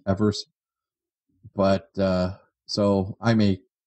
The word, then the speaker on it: Evers: came a thing now most people call him Johnny eavers but that was a mispronunciation technically his his name is pronounced Evers but so I may